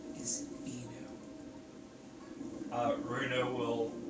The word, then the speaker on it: Inu: My name is Inu.